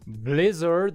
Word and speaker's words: Blizzard: Blizzard is a two-syllable word with the stress on the first syllable.